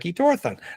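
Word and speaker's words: Thor Han: And and theans are famous famous for shapeshifting into these tall Nordics just like Thorhan pronounced like Toron.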